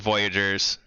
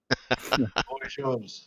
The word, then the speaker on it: Voyageurs: And man, I had told you it wasn't Voyagers. Voyageurs. I was saying it wrong.